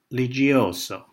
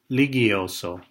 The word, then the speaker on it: Ligioso: saying, "Oh yes, Ligioso," pronouncing our name with a soft G. She responded, "No, Ligioso," with a hard G. He insisted it should be pronounced with a soft G, noting that it was a nice Italian name.